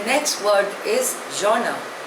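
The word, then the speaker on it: genre: making anti national comments the next word is जना spelling is जीई एन आर E pronunciation is zona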